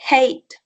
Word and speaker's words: hate: h que en inglés es j y la pronunciación de esta vocal en inglés pues es y por eso se dice hate y se pone el sonido de la terminal